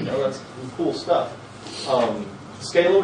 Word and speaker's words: Scala: Um, Scala, which I refuse to pronounce the other way because that sounds stupid. Um, Scola, I just don't like it. Um, Scala feel better.